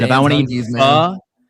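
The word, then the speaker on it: phở: And if I want to eat fur and if I want to eat fur on a show that I help founded, then I'm gonna do it.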